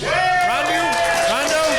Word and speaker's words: Rondo: Rondo. Did I say it right, Ryan? Yep, you did.